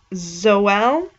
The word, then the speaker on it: Joel: guitarists and a drummer the drummer joel pronounced zoell that's what it says in parentheses virgil or virgil uh